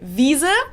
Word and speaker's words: Wiese: Another example that comes to mind because it rhymes would be Wiese, which means meadow. But if you mispronounce it and say Weise instead, it means wise.